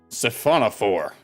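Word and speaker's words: siphonophore: sail is not jellyfish at all it's a syphonophore that's the pronunciation I'm going with and that's the pronunciation everyone should be going with and you need to do it in that voice it's a safona for saona fores are Colonial organisms made up of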